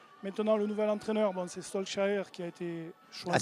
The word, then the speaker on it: Solskjaer: Faut essayer de prendre l'accent quand on dit les prénoms. Ah ouais, Solskjaer. Je le prononce à la norvégienne.